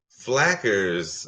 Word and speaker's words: Flackers: Melanie asks, Whack family, has anyone tried Flakers, flaxseed, spices, water, and Flackers? Oh, okay. Rhymes with crackers.